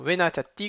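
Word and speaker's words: ונתתי: Alors, venatati, comment on va le prononcer? Vena, on ralentit sur le na. Venatati. Et on s'écrase sur le dernier tav.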